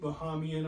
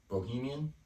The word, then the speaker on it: Bahamian: Who bought 2 Bahamian islands? Bohemian?